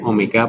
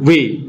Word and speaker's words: omega: Seringkali siswa keliru membacanya W ya, bukan W. Ini bacanya omega. Omega, bukan W.